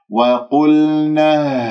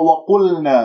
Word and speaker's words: وقلنا: القاف مفخمة مرتبة ثالثة لأنها مضمومة، لا تسحب ضمة القاف إلى اللام، تقول وقل، نطقت اللام وأنت عندك الشفاه مضمومة تأثرا بضمة القاف، يجب أن تكون ساكنة ومن غير الشفاه بالوضع الطبيعي. وقل، وهكذا يجري فيها الصوت